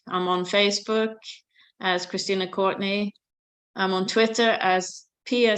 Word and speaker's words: Courtenay: And we should specify Courtenay. I'm kind of exaggerating the pronunciation. Courtenay, yes. It's Courtenay.